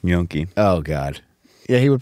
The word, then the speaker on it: gnocchi: You added another syllable. Gnocchi. He is so wrong.